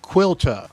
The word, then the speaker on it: Caoilte: So, according to the internet, this is pronounced Quilta. I believe I've got that correct. I am probably going to mispronounce that several times. I think it's KT, but Quilta is apparently the proper pronunciation of this.